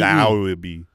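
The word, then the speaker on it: Laube: I don't know how to pronounce his last name. Yeah. I think it's Lauby. Yes. He is. Lauby? Lauby. Lauby. Yeah, that's right. L-A-U-B-E. Lauby.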